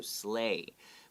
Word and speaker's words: sleigh: the world in his sleigh with the help of his flying reindeer makes an a sound and the gh is silent okay so slay with the help of